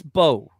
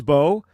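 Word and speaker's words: Mbow: The offensive tackle / guard guy, Marcus, it's spelled M-B-O-W, but the M is silent, so it's Marcus Bowe.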